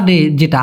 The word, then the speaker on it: doa: আর যে ডোয়া ডে, যেটা আমরা বলি না দোয়া, হ্যাঁ আমি দোয়া করি, সেই দোয়াটাকে দোয়াই বলে, কিন্তু ওদের উচ্চারণটা হয় ডোয়া, ডোয়া।